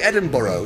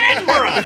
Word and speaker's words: Edinburgh: Edinburgh translator. Yeah. And you see, also, so somebody's like signing it, like in the bottom. You Americans say Edinburgh. It's not Borough.